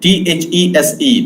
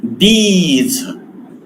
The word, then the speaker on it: these: When I pronounce this word, this is these. This is long E. I have written this in Marathi also here. E, long E.